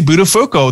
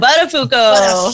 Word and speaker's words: Buttafuoco: So the first question we're going to throw at you is, tell us about Buttafuoco, the little girl, you know, your earliest childhood